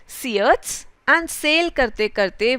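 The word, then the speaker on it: Syrtes: दो जगह के नाम है सियट्स एंड सिसिली, इस वर्ड का प्रोनाउंसिएशन इज सियट्स।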